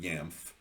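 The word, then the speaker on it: Jamf: was classically conditioned by one dr yamf uh in when he was an infant in the 1920s and that's spelled j-a-m-f which according to weisenberger in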